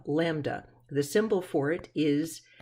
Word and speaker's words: lambda: lambda and it is pronounced like that like the little four-legged fluffy animal lamb and then duh lambda the symbol for it